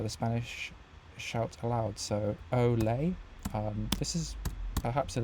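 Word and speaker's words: olé: Spanish shout aloud so oay um this is perhaps a little tricky if you um not familiar with the expression so I think in Spanish it's Olay o l e with an acute accents and then in French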